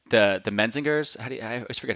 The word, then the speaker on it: Menzingers: Like the Menzingers, I always forget how to say their name. Messengers, yeah.